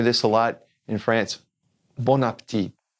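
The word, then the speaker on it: bon appétit: a lot in France Bon Appetit Bon Appetit don't say the T at the end but now notice there's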